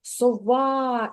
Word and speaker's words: сова: А тепер погукай слово сова і визнач, куди ж падає наголос: на перший склад чи на другий? А, на А. На а. На другий склад. Так, соба. Так, ось таку рисочку наголосу я покладу на звук А, на другий склад. Так, молодець.